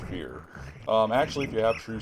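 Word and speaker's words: Feyr: Yeah, this is called a greater fear. F-E-Y-R. But the manual does confirm it's pronounced fear.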